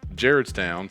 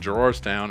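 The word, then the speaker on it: Gerrardstown: jarrod stand west virginia it's pronounced jared's town some people pronounce it gerard's town and the people that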